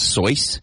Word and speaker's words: Seuss: you did you know his name was actually pronounced so what Dr so yeah I read that started as Seuss and he just never corrected it just let it go Dr so he's not